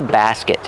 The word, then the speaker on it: basket: Use the short a like black cat. Basket. And a short sound for the second syllable.